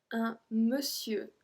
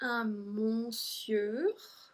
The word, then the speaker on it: monsieur: We don't say un monsieur. We say un monsieur. Un monsieur. So it's like the E, un monsieur. And we don't pronounce the R either at the end, un monsieur.